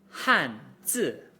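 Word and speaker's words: 汉字: I want you to notice something about how I pronounced that. 汉字. My voice started at the top, more or less, of my register and fell pretty much to the bottom of it. And that's how the 4th tone is pronounced.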